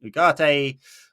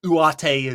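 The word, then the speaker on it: Ugarte: I I suspect if they're they recover quick enough it'll be Casemiro and Ugate or Uattate as he's supposed to be pronounced that's a better midfield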